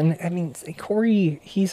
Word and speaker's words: Corey: Corey. Corey. New character. New character. Rhymes with Lori.